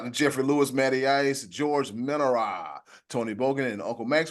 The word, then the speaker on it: Menara: He just told you 10 seconds ago how to pronounce that man's last name. Ain't it Menara? Oh, Morena.